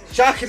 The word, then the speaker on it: Schajris: Hola amigos de Libro al Aire, un gran invitado, Noel, yo siempre tengo problemas con su apellido, ¿cómo es que se pronuncia? Chagris, sí, sí, el no gran Joel Joel Chagris.